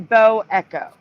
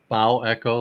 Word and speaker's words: bow echo: like a cloud shape wouldn't that be pronounced uh bow Echo like the bow of a ship rather than bow I don't know that's how the news pronounces it that's why I pronounce it way I think they're wrong I think they're wrong too but they call it